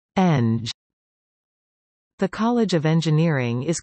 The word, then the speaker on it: Eng'g: The college is also known formally as UPCO, CO, and informally as Engineering, pronounced Eng.